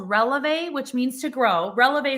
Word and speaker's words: Relevé: Releve. E EV. with a woo. Oh, it's French too. It's a French day. Because this is French. Like releve is a woo on the E, the woo thing.